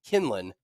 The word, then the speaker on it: Quinlan: Josh, I believe he pronounces his name Kinlan.